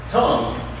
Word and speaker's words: Tung: Tongue. Tongue tree or tongue nut tree. T, and it's spelled T-U-N-G, not like our tongues.